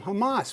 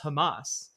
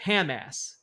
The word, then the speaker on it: Hamas: and he is talking about how he loves Hamas. you you know you turn it on and he looks directly into the camera and says I support Hamas except he pronounces it Ham ass.